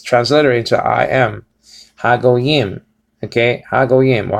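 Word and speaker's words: הגוים: So is ha go yim. Okay, ha or ha go yim. Okay, ha go yim. Ha go says over here, and it says transliterated to I am. Ha go yim.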